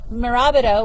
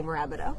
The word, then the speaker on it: Mirabito: unfortunately accidentally keep calling Mirabito because I like to say every syllable in the order that it is presented to me. In my head, I say Mirabito, and then out loud I say Marabido.